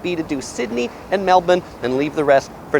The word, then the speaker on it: Melbourne: It's spelled like Melbourne, but it's pronounced Melbourne.